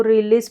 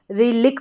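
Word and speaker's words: relic: यहां पर आर ई को रे पढ़ेंगे। आर ई रे और एल आई सी एल आई सी को लिक पढ़ेंगे। रे लिक रेलिक तो रेलिक हो गया।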